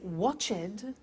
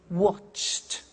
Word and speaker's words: watched: IDI what happens is the pronunciation becomes T we don't say watch it we eliminate the e and we say watched okay interesting hey so